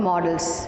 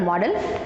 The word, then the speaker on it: modal: Okay, now the topic for the grammar is, we're going to study about modals. Okay, modal it's called, not model, it is modals. Okay, so get the pronunciation properly, modal.